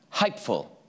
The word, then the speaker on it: hypeful: Our final word this week is hypeful, pronounced hype-ful.